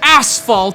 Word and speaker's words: Asphalt: This is Asphalt 3D. emphasis on the first syllable.